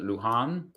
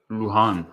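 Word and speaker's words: Luján: me first of all how do you pronounce it lujan luhan pronounced name luhan okay uh i'm just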